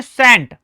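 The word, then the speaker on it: scent: यहां देखो एस सी ई एन टी। इसे आप क्या कहते हैं? सेंट। और सी यहां पर क्या होता है? साइलेंट। ठीक है जी। एस ई एन टी से भी हमारा काम चल जाता। यानी इसको हम पढ़ते हैं सेंट।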